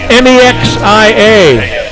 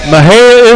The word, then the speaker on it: Mexia: M-E-X-I-A. Mahia. Mahia is right. Excellent. Most people want to say Mexia, or the right way to say it is Mejia, but they say it Mahia.